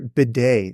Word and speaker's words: Badie: they signed badie b day name is Tyler Beday it's spelled bad who's that he's the running back